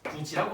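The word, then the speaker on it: 굳이: 우리가 어떻게 발음한다? 구지라고 발음하죠. 이거는 뭐다? 이 디귿이 뭐로 변한 거다? 지읒으로 변한 것이다 이거.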